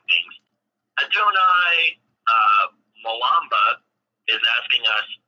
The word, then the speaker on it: Adonai: yeah this is starting to come along now donai sorry I I'm so bad at pronouncing things Adonai uh malamba is asking us do we hate